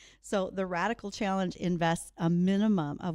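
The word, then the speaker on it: radicle: called the radical challenge, but it's spelled like the radical on a corn seed. That's one of the first growth extensions off of a corn seed. R A D I C L E.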